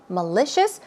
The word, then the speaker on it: malicious: short for malicious software malicious the stress goes on the second syllable and malicious itself means